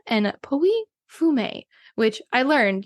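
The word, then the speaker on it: Pouilly-Fumé: Blanc from s and poy fum which I learned you do not pronounce the two L's in poy fum it looks like p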